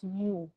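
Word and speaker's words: μ: the sign for micrometer this is not letter u um this is this is um pronounced as mu okay so a micrometer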